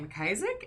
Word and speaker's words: McIsaac: My name is McIsaac. It is McIsaac on all platforms, and it is spelled just the way it is spelled below, which is Isaac with a Mick on the front.